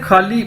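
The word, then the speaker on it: 和: दोस्तों next word है जी हमारे पास खा, HE। इसको इंग्लिश में तो हम पढ़ते हैं ना ही, लेकिन चाइनीज में H को हम ज्यादातर खे से प्रोनाउंस करते हैं, HE खा।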